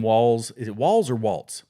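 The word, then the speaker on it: Walz: uh uh Tim Walls is it walls or Waltz walls walls okay that's I've heard it pronounced both ways so Tim Walls is the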